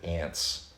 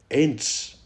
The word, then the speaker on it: Ents: Why would they name them something that sounds like ants if they're so big?